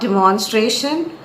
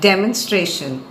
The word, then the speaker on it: demonstration: next word is demonstration it's not demonstration but demonstration and there are four syllables to it Dan menstruation demonstration